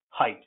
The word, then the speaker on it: height: His, hit, him, height. See, height is from German. That's why EI is pronounced I.